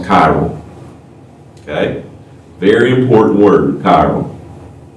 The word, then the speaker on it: chiral: That word is pronounced chiral.